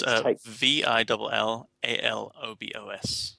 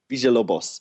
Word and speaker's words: Villalobos: Did you want to spell that surname? Sure, it's Villalobos. Excellent. Cool. Yeah, because it took me a while to learn how to say it correctly. Yeah. Villalobos.